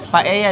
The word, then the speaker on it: paella: Paella negra. Oh, Negi, you will enjoy this. Ano bang tama doon? Paella. Paella. Paella. Bakit L yung nilagay? You don't pronounce the L.